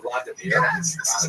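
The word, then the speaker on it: Владимир: What's especially important in its history is the conversion of one of its leaders, Vladimir, pronounced in Russian Vladimir, shown here in a statue overlooking the Dnipro River that runs through the middle of Kiev.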